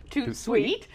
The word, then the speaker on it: Tout De Suite: i should say yeah too sweet pronounced too sweet joins us this afternoon